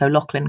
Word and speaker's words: O'Loughlin: literally in the UK, people get to the O and then they freeze because they don't know how the GH works. And all sorts of things happen. So yeah, and O'Loughlin is my full name